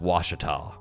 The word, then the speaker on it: Ouachita: Like, Mike, this is Lake Ouachita, which it'll throw you. It's spelled Ouachita, but it's pronounced Ouachita.